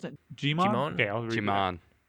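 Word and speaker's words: Djimon: And then the first mate, Duke, played by, how do I pronounce it? Jimon?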